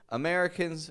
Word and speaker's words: America: just disappears allog together for example you ever notice Americans say America America they don't even bother saying America they'll just say America that's because America starts with awah uh uh and they've just reduced the stress from that so many